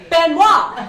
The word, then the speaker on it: Benoit: Oh my God, my name is Benoit. That is pronounced Benoit.